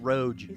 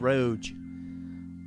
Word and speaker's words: ROG: It's pronounced Roge. So real excited about Asus it. Roge.